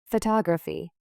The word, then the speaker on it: photography: Photography. Repeat. Photography with stress on the tog syllable.